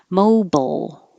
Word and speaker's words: mobile: This is a situation where I just put the BL to represent you're making the L noise. Your tongue will go to the L position, bowl, and then you just open your lips for the B. Mobile. Mobile is the American pronunciation.